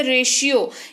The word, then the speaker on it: ratio: ये आपने देखा होगा टी का उच्चारण जब तालव्य श से होता है, जैसे रेशियो। यहाँ पर देखिए RATIO है, रेशियो इसको पढ़ते हैं।